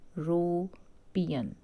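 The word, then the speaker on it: European: नहीं यूज़ करेंगे, क्योंकि इसकी प्रोनाउंसिएशन है, ये क्या है? इसको हम बोलते हैं यूरोपियन, दिस इज़ यूरोपियन। अब ये क्या है? ये तो हमारा वॉवल नहीं है ना, ये क्या है? ये तो हमारा कंसोनेंट है।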